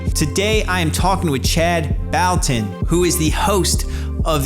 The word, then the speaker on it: Chad Bouton: enjoy it everyone chad balton welcome to the see-through podcast did i get your name wrong no you did not you got it perfectly correct yeah luckily my name